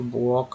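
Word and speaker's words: walk: किस तरह से पढ़ते हैं, कुड, हाफ, वॉक और वॉम। अब देखिए एन लेटर साइलेंट कब होता है, यदि शब्द का अंतिम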